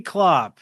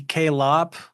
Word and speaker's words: Klopp: This is Klopp and last week I wondered if it was pronounced K Lopp. Could have been. She says thank you for answering my question Sean. My name is pronounced Klopp.